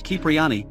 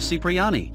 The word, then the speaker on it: Cipriani: and 98 missions respectively Tony pronounces his surname as kipriani in the mission the pickup in GTA 3 instead of Cipriani this appears to be